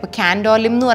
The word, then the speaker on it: Candolim: Here they don't pronounce "M" in a lot of words. They say Candoli instead of Candolim. For Panjim they say Panji!